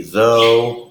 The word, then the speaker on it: though: nngh and in which the gh is silent I've given you the Spanish equivalent on the left side of the screen here the word okay can be though or although in English they're